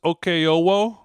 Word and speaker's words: Okeowo: So, last name pronounced Oko.